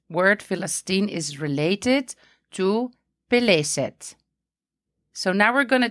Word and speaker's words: Peleset: And the word is pronounced as Peleset, and it was used to refer to the people in the southern Levant.